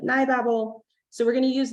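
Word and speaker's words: NiBabel: So we're going to use another favorite library that's also controversial in how you pronounce it. I call it NeuroBabel.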